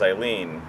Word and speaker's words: Eileen: non-sewer queen name was eileen especially because it rhymes with queen and it's also the